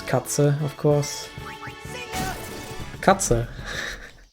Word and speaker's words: Katze: So I can pronounce Katze, of course.